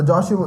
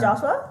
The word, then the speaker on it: Joshua: was like ten so Joshua mother was never late Joshua stop it name is Joshua Joshua seriously my name is not Josh no additional two syllables yeah yeah Josh